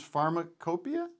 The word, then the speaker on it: Pharmacopoeia: Let me just say, if people don't know Hamilton, your show, Hamilton's Pharmacopoeia, is that how you say it? That's how you say it, or pharmacopoeia. Both are fine.